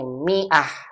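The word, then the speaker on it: مائة: Mia ditulis seperti ini Miah pakai Alif Alif nya nggak dibaca-baca kunjungi ah begini Miah huruf alif pada kata tersebut tidak dibaca sehingga kita bacanya Miah Bukan dibaca Maaf tulisan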